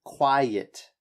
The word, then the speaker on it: quiet: This word, quiet, so it actually has 2 syllables to it, and that's what makes it different. So think of it as quiet. Quiet. Yeah, and the separation of the syllables happens right here. So it. So it's the separation of the E and the I, and a lot of people have trouble with that because they're quite similar sounds, but you have to separate them.